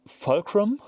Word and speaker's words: Fulcrum: the Anglo-Saxons would say, Folkrum. I'll pronounce it in a German way anyway, I'll say Fulkrum, it's a German proper